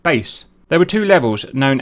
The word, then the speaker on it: BACE: These were known as Basic Automated Checkout Equipment, or BACE, pronounced BASE.